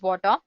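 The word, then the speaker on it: Watir: Mac Linux you name it then you have water which is pronounced as water it's an open- Source testing tool made up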